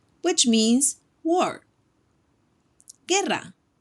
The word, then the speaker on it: guerra: Those words need the vowel U, between the G and the U. Let's take a look at some ejemplos. Guerra. Guerra. Don't forget the double R, which means war. Guerra.